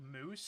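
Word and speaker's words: mousse: いつもは旅の人がガンダルバー村を離れるとき、地域を見分ける方法だけを教えるんだけど、 It's pronounced like moose?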